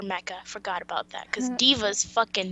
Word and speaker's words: D.Va: forgot about that cuz Diva's bait that's how you say it Diva yeah d.va yeah Diva you want to